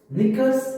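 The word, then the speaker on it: knickers: निकर्स again half pant is निकर, निकर में के साइलेंट है, ध्यान रखना।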